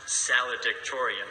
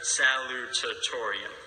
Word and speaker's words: salutatorian: to be salutatorian first of all it isn't pronounced salad ich Torian as I recently learned but rather salutatorian it's very important that you pronounce it correctly